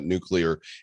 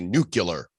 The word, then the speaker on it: nuclear: is grown adults that can't pronounce the word right and say nuclear. I mean, come on, it's nuclear. Even presidents. Bush never got it right. Never got it right. Always nuclear.